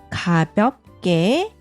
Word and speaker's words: 가볍게: 일어나서 가볍게 스트레칭을 해요. Aqui, que pronuncia como que.